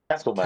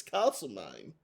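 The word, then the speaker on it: Castlemaine: So what do we call Castle Mine here in Victoria? Castle man. Castle magnet. Yeah, well that's what I thought, but obviously it's castle name.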